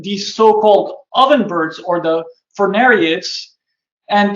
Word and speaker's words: Furnariid: spread focused on these so-called ovenbirds or the Furnariids. And it's this group of birds has a tough word to pronounce that a lot of people struggle with Furnariid.